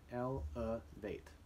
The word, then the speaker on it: elevate: And notice how the schwa sound is made with an E in the second syllable in this word. And it also has the sound, elevate. But we use it as,